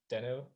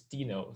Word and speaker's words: Deno: young growing dino so that's why it's called denno actually it's also might be pronounced this dino some people like that pronunciation whatever so there's still